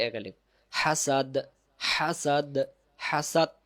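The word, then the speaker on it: حسد: এক আলিফ, হাসাদ, হাসাদ, হাসাদ, হাসাদ যেন না হয় শেষে দ দিয়ে উচ্চারণটা মুখে নিয়ে আসবেন, হাসাদ।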